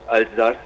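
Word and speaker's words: Alsace: It's aldas if you say it in French.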